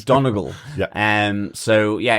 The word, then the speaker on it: Donegal: I'm wanting to pronounce it like Donegal, which is, one of the counties in the northwest of the country. Yeah. But everyone's saying Donegal.